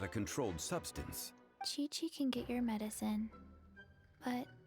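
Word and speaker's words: Qiqi: You pronounce it Chi-Chi.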